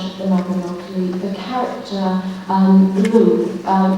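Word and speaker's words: Lleu: For example, we knew that in the fourth branch of the Mabinogi, the character Lou, it should be actually pronounced something like Clay in Welsh, but the anglicised version is Lou, the same deity as Lud, after whom Londinium is known.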